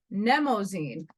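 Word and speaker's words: Mnemosyne: that Grotto was messed nemozine not the way it's spelled not the way it's held you see I have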